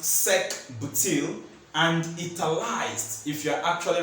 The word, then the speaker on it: sec-butyl: So why I went to say all this is because this butyl structure is actually a secondary butyl, which is pronounced sec-butyl, and italicized if you're actually writing it.